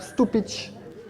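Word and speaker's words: Stupice: Variété de tomate Stupich. Ça s'écrit Stupis.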